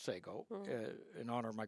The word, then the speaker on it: Sego: Um, but then we formed a new company, Sego, which, by the way, was originally spelled Sago, but people kept saying Sago. It's pronounced Sego, Mm.